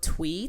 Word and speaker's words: Thuy: that use that word twee, Twee, how my name is pronounced, to describe something like girly or dainty.